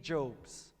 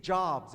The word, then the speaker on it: Jobs: I've met many people over the years who said, "Yeah, you know, I was close friends with Steve Jobes. Steve's name is Steve Jobs. It rhymes with Rob's.